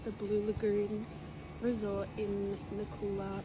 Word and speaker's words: Nacula: currently staying at the Blue Lagoon Resort in Nakula, pronounced Nathula Island, in Fiji.